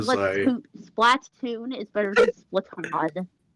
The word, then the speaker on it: Splatoon: We're Cause never I gonna didn't pronounce it Splatoon. You know what? It's Splatoon.